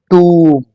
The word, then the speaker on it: tomb: Moving on to the next word, that is the right pronunciation of this word is tomb.